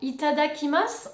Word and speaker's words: いただきます: t'adakhima c'est pas possible on prononce souvent il t'ada qui masse en joignant les deux